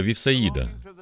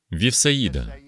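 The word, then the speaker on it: Віфсаїда: місце неподалік від міста вівсяїда вівсаїда ось Як воно правильно вимовляється а люди довідавшись про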